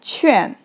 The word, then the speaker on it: 劝: So this character pronounced like 劝.